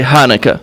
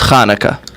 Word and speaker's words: Chanukah: Well, Chanukah is the Hebrew way to say it. Many people in the U.S. can't pronounce the ch, so they just say Hanukkah. Right. But the proper way to say it is Chanukah. Okay.